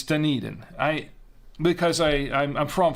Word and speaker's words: Dunedin: that correctly did you no it's not done a den it's Dunedin I because I I'm